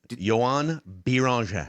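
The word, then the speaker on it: Joan Beringer: Well, pronounce his name again. Biranger? Biranger. Yoann Biranger.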